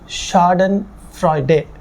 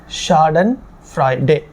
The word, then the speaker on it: Schadenfreude: ஆர் இ யூ டி இதை உச்சரிக்கிறது எப்படின்னாக்கா ஷாடன் பிரைடே ஷாடன் பிரைடே இதுக்கு அர்த்தம் என்னன்னா மேலிசியஸ்